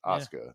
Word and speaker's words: Asuka: but like Oscar from the WWE her name is spelled a-s-u-k-a I read that as Asuka the first time I've ever heard of it it's pronounced Oscar the U is just we just pretend there's